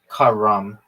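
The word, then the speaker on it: carrom: How did I get good at Karen? Yeah, dog. I just did. Apparently. The way you really pronounce that game is Karam. It means to move. It means to move in Arabic.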